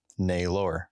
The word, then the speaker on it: Naylor: I mean, people look at it and they think because it's spelled like Taylor, so they try and pronounce it that way, but it's not pronounced like Taylor. It's pronounced like Naylor.